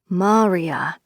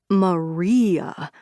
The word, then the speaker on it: Maria: Usra would say her name right. Maria, quick, clever, unpleasant when you made it too sharp like her. Not Maria dragged out like a lazy, sticky piece of gum.